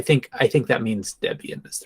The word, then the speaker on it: Debian: Um So I think I think that means Debian is the correct pronunciation. Debian.